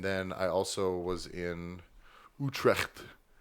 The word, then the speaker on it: Utrecht: And then I also was in Utrecht. Apparently, that's how it's pronounced, with a little bit of loogie at the end.